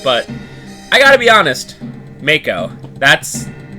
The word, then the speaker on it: Mako: us for let's plays calls it Mach Oh because apparently they pronounce